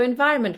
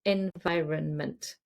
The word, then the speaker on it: environment: We rarely even say the n in the middle.